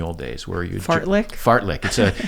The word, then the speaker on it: fartlek: Fartlek. It's a Swedish word, F-A-R-T-L-E-K, fartlek. Uh-huh. Yeah, be clear we spell that right.